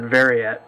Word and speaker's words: Veraet: or ver ver um I I pronounce it verette but not sure if that's uh what they like to be called um the little the